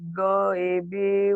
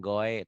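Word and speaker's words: غيب: Alladzina yu'minuna bil ghaibi wa Dengan yuqimunas goibi. shalah. Jangan goe tapi goi.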